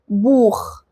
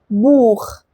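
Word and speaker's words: Buch: بيتنطق خ لو جه بعد واحد من الحروف الثلاثة دول، الآ أو الأو أو الأو. آ أو أو. طيب لما التسيها بتيجي بعد واحد من الحروف دي بتتنطق خ. زي كلمة ايه؟ زي كلمة بوخ. بوخ. das بوخ. das بوخ يعني كتاب.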